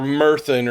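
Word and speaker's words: Myrddin: Because m y r d i n and dd in Welsh has a th sound. So man. Yeah. Or mirthan or something like that.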